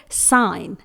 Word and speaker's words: sign: Last word है साइन, SIGN। यहां पर भी N से पहले आया हुआ G लेटर प्रोनाउंस नहीं होगा।